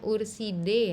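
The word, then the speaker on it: Ursidae: Bacanya urside ya.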